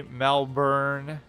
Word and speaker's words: Melbourne: and can Bara uh Brisbane is brisben and Melbourne is Mel burn like I'm not even going by like some sort of Americanized pronunciation it's literally how it's written if you were to read it properly phonetically right bris Bane is written Brisbane and melbourn is written like the born identity yeah I always knew